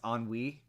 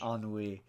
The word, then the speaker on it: ennui: But no, I mean the funny thing about Inside Out 2 for me is how nobody can pronounce ennui. Um, on on the Wii. ennui.